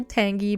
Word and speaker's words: Tangy: I still know that you technically pronounce her Tangy but tanji is always going to be Tangy for me she's a legend she's